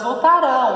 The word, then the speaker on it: voltarão: Então, elas voltarão. Ainda vai acontecer, ó. Voltarão para casa mais cedo. Como que fica no passado? Isso, elas voltarão. Voltarão. Olha a diferença da sílaba tônica, tá bom?